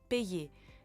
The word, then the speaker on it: payer: The previous vowel, for example, A in payer, acts like there were an I after it, and we know that AI is pronounced like E, so we have payer.